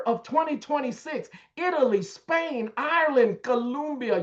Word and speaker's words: Colombia: Look, by the summer of 2026, Italy, Spain, Ireland, Colombia, you got to say it correctly. Colombia, Chile, and Peru.